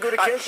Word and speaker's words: Gutekunst: It's Gutekunst. I mean, how do you pronounce it? Because they're very sensitive to the pronunciation of their name. Gutekunst, you're doing a good job.